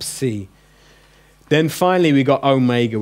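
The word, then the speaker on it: ὦ μέγα: then finally we got Omega which everyone knows which is home that sorry the long Oh in home that Oh as opposed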